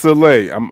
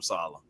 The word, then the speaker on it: Saleh: That's like, so it's pronounced Saleh. My apologies. Okay, Saleh. I got you. Okay, all right. And so I mean, don't get me, hey man, we always called him Salah.